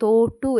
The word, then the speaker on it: തൊട്ടു: അതുപോലെ തൊട്ടു എന്ന വാക്കിന് ഏതാണ്? വെറും ഓയാണ് വരുന്നത്. ഓ എന്ന് നമ്മൾ പറയുന്നത് തോട്ടു എന്നല്ലല്ലോ പറയുന്നത് തൊട്ടു എന്നാണ് പറയുന്നത്.